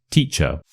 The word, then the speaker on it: teacher: You'd say teacher. Teacher. So the suffix is a which is awah.